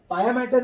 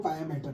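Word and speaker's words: pia mater: है अभी and then पाया मैटर इज the delicate लेयर सबसे ज्यादा डेलिकेट लेयर जो होती है वो पाया मैटर होती है पिया मैटर भी कोई प्रोनाउंस करता है तो पाया मैटर ड्यूरा ड्यूरा मैटर जो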